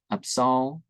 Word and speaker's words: Absal: Now, there isn't a biblical name with a V or J sound, so, The accented vowels are to be pronounced long, as in Italian, Salaman, Absal, Shirin, etc.